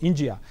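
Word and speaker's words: Inđija: it's called the town it's called India which sounds always the same as India and the way it's spelt also so there is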